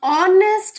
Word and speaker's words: honest: the soundness or nest H is silent so that is why